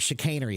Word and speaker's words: chicanery: forth some sort of emotion okay how to pronounce Shaner Shaner is the word chicanery it's not a word we ever use anymore